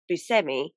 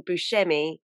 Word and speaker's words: Buscemi: actually steve buscemi because apparently on his father's side they're from sicily so it's actually pronounced busemi but because he's so well known for being buschemi he just lets everyone